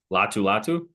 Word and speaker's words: Latu: You pronounce it pretty well. Say it for me. Latu. That guy. I think he's going to be a great rusher for him. Latu.